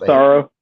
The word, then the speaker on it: Massaro: How do you pronounce that last name? Massaro.